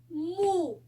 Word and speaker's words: 目: be learning a new word called mu.